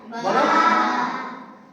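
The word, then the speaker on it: باء: বলো এক আলিফ টান হবে। বা অক্ষরটা এক আলিফ টান হবে, উচ্চারণ হবে দুই ঠোঁট থেকে।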